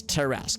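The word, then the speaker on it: tarrasque: word that's right that's that's how it's pronounced it's terask okay cool yeah I've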